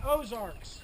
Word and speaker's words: Ozarks: of this region say Ozarks Ozarks you hear that Arc in there some historians believe that the name of our region is a Corruption of the French term land of the Bose or people of the